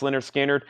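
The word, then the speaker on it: Lynyrd Skynyrd: I'm about to sell it unless brand bids Leonard skinnard pronounced Leonard skinnard gatefold new and sealed $ 36.99 for Leonard skinnard pronounced lard skinnard we have Phil Collins the singles Phil Collins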